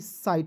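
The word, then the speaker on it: sight: हो जाएगा ठीक है एस आई जी एसटी साइट पढ़ेंगे यहां तक क्लियर उसके बाद देखिए यहां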